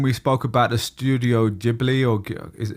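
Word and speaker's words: Ghibli: Yeah, it reminds me a little bit when we spoke about the studio Jibli or is how do you say Jibli with a J, Right. Like a sounds like a J that whole discussion if you guys listen to that episode in the past.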